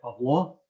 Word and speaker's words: Pavlo: And every time I pronounced it correctly and I said Pavlo, he would chuckle and he would put his